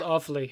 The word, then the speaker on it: Offaly: It's called Offaly, hence the name being Awfully Irish. Oh my gosh. I thought that was such a cute name. Is it really called Awfully? Yeah, it's called Awfully. It's spelled different.